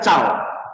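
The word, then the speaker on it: 找: l kita lihat m m itu bacanya cau cau itu mencari mencari apa mencari teman cau mencari guru cau la ya cau itu artinya mencari Oke la yang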